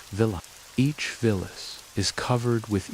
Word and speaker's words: villi: The inside of the small intestine is lined with tiny finger-like structures called villi, pronounced villa.